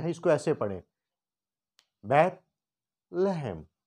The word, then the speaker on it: بیت لحم: اس کو یہاں سے ہم نے الگ کر لیا ہے، اس کو ایسے پڑھیں، بیت لہم. بیت لہم. بیت جب ہم بولیں گے تو ہماری زبان ہمارے دانتوں کے نیچے آئے گی.